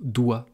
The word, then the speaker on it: doigt: Ça peut être un G, comme dans le mot doigt, dont je vous parlais tout à l'heure.